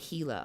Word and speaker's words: Gila: lately it's pretty gross gila is pronounced with an h like gila okay gila monster gila